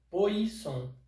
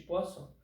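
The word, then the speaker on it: Poisson: de entender é o coeficiente de pó só se escreve p o i s s o m Poison mas na verdade LG é coeficiente de posso quando você aperta uma bolinha Quais são as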